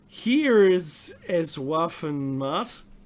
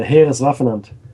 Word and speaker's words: Heereswaffenamt: Professor Walter Gerlach, who headed Tor for Heeres es Waffenmacht, I can't say. What's that actually pronounced, Meki? It's the Heereswaffenamt.